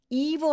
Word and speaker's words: evil: wich UN evil Which evil 할 때 2는 굉장히 긴 장음이 여러분 영어는 스펠링 봐서는 얘를 그냥 이인지 evil인지 알 수가 없거든요 그래서 그냥 단어별로 그냥